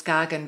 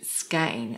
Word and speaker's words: Skagen: Now, most people know it as Skagen, but my relatives actually said Skagen. I think that's the Danish pronunciation.